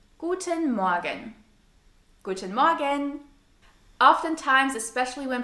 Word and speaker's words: Morgen: Another side note here, we don't pronounce the R in the word morgen. It's a so-called silent R.